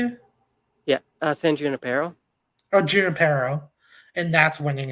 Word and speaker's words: San Junipero: San Junipero, Oh, Junipero.